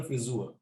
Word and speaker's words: Frisur: The haircut is the frisur. So you have to be careful with the pronunciation of friseur. It's almost like an Ö, O umlaut, friseur or friseurin, but frisur, U, is the haircut.